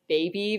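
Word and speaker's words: Baybe: Her artist name is Baby, but it's spelled B-A-Y-B-E, and she's in Nashville right now, killing it.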